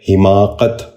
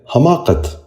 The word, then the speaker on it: حماقت: غور سے سنیے، حکایت۔ چھٹا لفظ ہے حماقت۔ یہ غلط تلفظ ہے، درست تلفظ ہے حماقت۔ اب ذرا غور سے